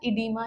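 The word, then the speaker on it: oedema: इसको हम ये भी लिखते हैं ओ ई डी ई एम ए but pronounce हम इसे हमेशा इडीमा ही करेंगे। ठीक है? ये बस ब्रिटिश इंग्लिश और अमेरिकन इंग्लिश का डिफरेंस है।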